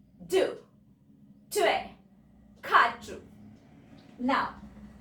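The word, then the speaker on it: trois: Now 3 को हम लिखते हैं ट्वाइस. बोलते हैं ट्वे.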